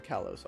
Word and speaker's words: Kalos: To be fair, all the letters in Kalos are there. Kalos. To be fair, in real French, and the only other way they can pronounce that word would be a silent S at the end.